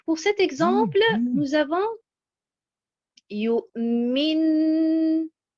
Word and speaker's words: يؤمن: Donc, pour cet exemple, nous avons yu'min. Vous voyez la bonne prononciation avec l'accentuation sur harakat al-mim, al-maksoura. Yu'min.